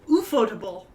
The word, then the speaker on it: ufotable: here's the real question is it you you photable or is it ufo table because it's spelled like ufo or is it ufotable it's your photo i believe okay ufo table